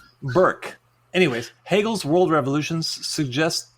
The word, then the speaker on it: Burke: He says that Bork, that seems like an incorrect pronunciation. Bork. That's what Swedish dogs say. Burke.